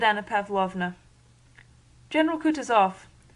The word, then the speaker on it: Kutuzov: said Anna Pavlovna general Kutuzov said Bolkonsky speaking French and stressing the last syllable of the generals name like a Frenchman has been pleased to